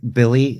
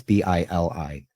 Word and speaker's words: Bili: Yeah, no, because like Billy is not Billy, it's Bili.